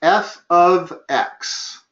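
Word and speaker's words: f(x): okay so f X well the that is pronounced f of X f of X and it's not multiplication that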